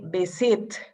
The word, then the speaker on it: visited: but visit is present visit is ending business very good visit it you create another syllable visited i visited a different